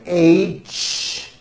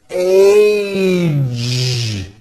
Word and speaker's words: age: It's not H. It's age with a voiced ending.